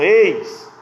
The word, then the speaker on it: eis: Então sempre quando vocês verem essa expressão eis, né, com I, com a letra I, o S, né, não é eis de ex, né, a língua portuguesa tem aí os seus devaneios.